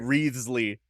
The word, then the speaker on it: Wriothesley: Anyway, it's spelled Wriothesley. B tier. Wreathsley.